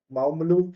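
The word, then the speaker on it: Mawmluh: It's called Maalu Cave if I'm not pronouncing it correctly. It's got it's spelled as m a w m l u h ml cave.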